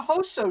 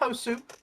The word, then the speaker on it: Hoso: flying in in a Hoso ship. Not Hosu. It's hoso for anyone listening and for my players because they keep pronouncing it.